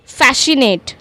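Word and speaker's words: fascinate: Then we have फैशनेट। फैशनेट फैशनेट फैशनेट में हम क्या कर रहे हैं? सी को साइलेंट कर रहे हैं क्योंकि एस और सी एक साथ आ रहे हैं।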